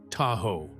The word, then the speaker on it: Tahoe: Over time, early European settlers mispronounced the name, and Da ow a ga dew gradually became Tahoe.